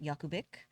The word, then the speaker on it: Jakubik: So, got married about 2 years ago, and my last name is pronounced Jakubik. It is spelled Jakubik.